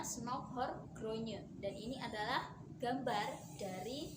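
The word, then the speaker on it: Snouck Hurgronje: adalah know now Hurgronje tulisannya ya Tapi bacanya Snouck hurgronye dan ini adalah gambar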